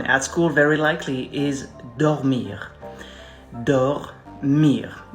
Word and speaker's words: dormir: likely is dormir it's it's a very good word to practice the pronunciation of the letter r like it's really think about you have something stuck here like you're choking on something and you're trying to spit it out it's gonna be like